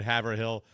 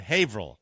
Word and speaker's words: Haverhill: I would have always said Haverhill the way it's spelled, but Haverhill. I never, ever knew that, you know?